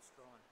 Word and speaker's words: Strachan: Bishop Strawn. Strawn? Yeah. Okay. I've been saying it wrong for 3 years.